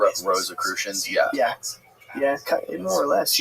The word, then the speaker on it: Rosicrucians: Rosicrucians. Rosicrucians, yeah.